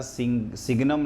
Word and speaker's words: signum: सिग्नम spelling होती है SIGNUM, है ना, सिग्नम ऑफ x। सिग्नम का क्या है कि अगर पॉजिटिव नंबर का सिग्नम लेते हैं तो 1, और सिंघम भी कई लोग कहते हैं इसको, और 0